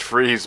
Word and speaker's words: Fries: Listen, I'm what you might call Well, I know fries is supposed to be pronounced freeze, but there's no accent mark on any of the letters. I'm pronouncing it as fucking fries.